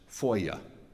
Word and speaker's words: Foya: She says it's Foya, Foya, Foya.